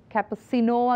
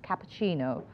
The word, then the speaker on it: cappuccino: we had this word it's not cusino again it's cappuccino cappuccino cappuccino and then we had